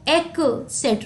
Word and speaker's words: etc.: और इसको etc नहीं पढ़ते, कोई क का साउंड नहीं होता है. it is pronounced as etc. ट का साउंड होता है, ठीक है.